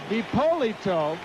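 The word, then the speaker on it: Hipolito: in paa spells his first name hi p o l i t o he pronounces it hi poito and that pitch to Gary Carter I guess phonetically he could pronounce it he it too one is Spanish and the other is English and Carter had some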